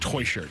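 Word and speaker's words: Techert: news has gotten St how does spell his last name t e c h e r t and I'm 99% sure it is pronounced toy shirt I didn't want Rolls-Royce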